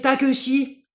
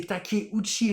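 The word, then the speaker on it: Takeuchi: années et il y avait notamment un Japonais takuchi takuchi qui sautait qui fait du SO à ski et là j'avais on avait Nelson Montfort ce bon vieux Nelson qui était là et oui c'est le japonais takosi et ben ouais ta t a K e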